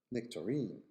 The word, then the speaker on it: nectarine: magazine magazine magazine magazine the second example is a stressed on the last syllable in America nectarine nectarine but on the first one in British nectar nectar so nectarine